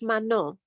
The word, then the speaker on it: Manon: It's French, so it's Manon. Manon.